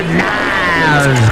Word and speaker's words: Niles: Frasier Crane and his brother Niles Crane, which rhymes with Giles, Niles, and Giles. Padres lead this with 1-0, and all the ducks are on the pond for Brian Giles.